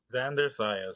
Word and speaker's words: Xander Zayas: Xander Zayas, yep.